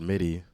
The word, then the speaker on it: MIDI: electronic digital he's also I've never heard MIDI pronounced meaty that's what meantime he was doing his own thing and explores the world of media music AKA meaty music no midi no that's crazy electronic digital